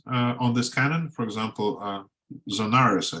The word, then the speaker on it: Zonaras: But it's interesting that in later Byzantine commentaries on this canon, for example, Zonaras, I think is the proper English way of pronouncing it, he says that although